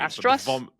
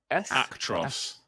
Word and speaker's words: Actros: Astros. Actros. How do you spell that?